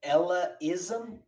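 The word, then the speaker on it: Ellaism: Previously, Sorpus had added Sputnik support to Ella-ism. Or for wait, so how do you say it and spell it? Ella-ism? Yeah, ELLA-ism.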